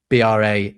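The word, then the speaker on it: bras: bit later, um, bra B r a s, but pronounced basically bra in French is your arms, not your bra.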